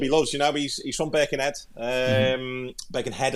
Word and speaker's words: Birkenhead: Birkenhead, I should say, pronounce it properly. Got my Scouse accent, that Birkenhead.